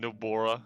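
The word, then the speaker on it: Nobara: no no no bara nope bora bora and nobora i've been saying it wrong literally the entire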